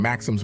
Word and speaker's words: Maxim: he was shooting from Maxim's machine gun the boxer took a pseudonym and yes it is correct to stress the first syllable because that's the last name of his creator so Joey with his